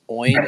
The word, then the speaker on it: OIN: name out loud it's it's oin is that how you pronounce it yeah yeah it's like a coin without the t oh okay okay so